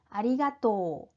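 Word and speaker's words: ありがとう: 의미가 됩니다 아리가또 고자이마스 아리가또 또 가 길죠 또 까 장 음으로 발음이 됩니다 다음은 숨이 마 생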